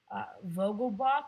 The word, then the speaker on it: Vogelbach: Vogelbach, that's how it's pronounced.